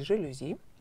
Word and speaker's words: жалюзи: Кстати, все заимствования с французского языка нужно произносить с ударением на последний слог, поэтому правильно говорить «жалюзи», а не по-другому, как мы часто делаем, да?